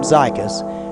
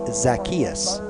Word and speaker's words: Zacchaeus: zykus z-y-q-k-i-s i called him zykus and i believe it's zacchaeus i do apologize to